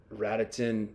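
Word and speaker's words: Radotín: Ratitin Ratiton's home box outdoors outdoors outdoor rink on the turf.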